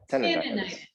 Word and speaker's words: tinnitus: Tinnitus. That's how you say it. It's T-I-N-N-I.